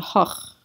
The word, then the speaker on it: Hoch: It's not this, you don't pronounce the C and the H separately. They're the same, they're just one sound.